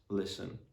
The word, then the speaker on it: listen: So the letter T is usually going to be silent in the STEN ending. So for example, in the words listen, fasten, moisten, glisten.